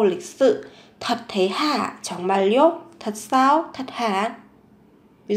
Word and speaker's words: 정말요: 정말요? Các bạn chú ý phát âm, biến âm. 정말요?